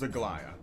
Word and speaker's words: Aglaya: Alright, remember that the pronunciation is Aglaya.